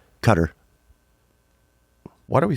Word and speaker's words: Qatar: say Qatari right but I met someone from cutter and they were a uh they said cutter so I'm just following they say that okay yeah but then why do we say it wrong like they told us like the Americans told us the wrong way to say it from the beginning then